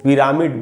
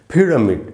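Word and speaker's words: pyramid: पी वाई आर ए एम आई डी इसको पिरामिड बिल्कुल नहीं बोलना चाहिए। इसका जो करेक्ट प्रोनंसिएशन है वो है फ्रीडमिड।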